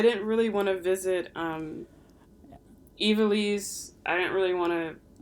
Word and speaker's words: Ivalice: Don't do revisited multiple Ivalice. times. Yeah. I think I say it like Evilise.